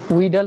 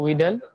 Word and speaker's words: Widal: এটা উচ্চারণটা হবে ইংলিশে করলে কি হয়, উইডাল হয় না ইংলিশে, উইডাল।